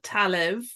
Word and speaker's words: Talamh: This shawl is called Talev, and just for your ease, and it's Talamh, because Irish names aren't necessarily spelled the way they're pronounced from with an English mind anyway.